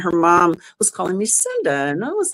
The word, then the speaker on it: Cynda: Cinda, that's all right. And then I was visiting a friend of mine who I loved her mom, and her mom was calling me Cinda.